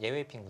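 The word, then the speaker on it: 聂卫平: 같이 검토도 하고 그랬는데네 예전에는 서평 9단 예외 핑 9단 있죠 이제 중국어 발음으로 예외 핑 9단이 좀 어 아 지구다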